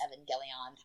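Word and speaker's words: Evangelion: like the Neon Genesis Evan gelon I do hard G not soft G because I'm a baller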